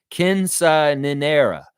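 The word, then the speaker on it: quinceañera: Jill's saying Kinsa Ninera. Yeah, all right. I think I'm getting it right. She's giving me the pronunciation.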